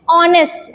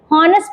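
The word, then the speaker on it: honest: Okay, नेक्स्ट ऑनेस्ट, ऐसे लिखा तो ये एच है, हॉनेस्ट पढ़ना चाहिए, लेकिन हम लोग एच को साइलेंट रखते हैं।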